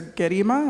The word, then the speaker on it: Gerima: question for you Professor gima am I saying your name right well G hard g g yeah okay thank